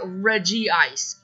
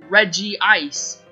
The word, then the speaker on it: Regice: be called Reggie ice sure it might look a little weird with the two eyes next to each other but it would make me feel better because then it would actually be pronounced Reggie ice it's just so annoying